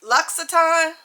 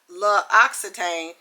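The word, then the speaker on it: L'Occitane: Everybody says it differently, but I asked the lady and it and then also in the card it gave me, it says it is spelled Luxaton, not not Lux Oxitane. It's Luxaton in province.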